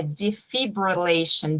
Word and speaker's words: defibrillation: Outra palavrinha tricky, a gente fala descompensação em português, e em inglês é decompensation, é igual desfibrilar, é defibrillation, defib do patient, não tem esse S, prestem atenção.